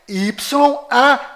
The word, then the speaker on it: Yauh: Ou seja, o código secreto deste cofre é Y-A-U-H, Yau.